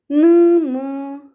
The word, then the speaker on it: ನ್ಮ: N, ma, a, nma. when we break it and pronounce it, n, ma, a, nma.